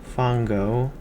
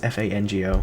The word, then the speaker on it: Fango: Fongo. I now know it's spelled with an A instead of two O's, because I thought it was Fongo, but it's Fango, whatever.